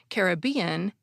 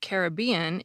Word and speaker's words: Caribbean: from looking at references dictionaries lists both pronunciations is acceptable and there are actually even more than those too a 2010 book on pronunciation says that Caribbean is more common among British speakers and Caribbean is more common among American speakers but my reading of